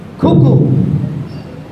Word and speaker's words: cuckoo: So if you have a word like this, so this becomes cuckoo. First ka, second ka. So first one is stressed, it becomes a k. So cuckoo.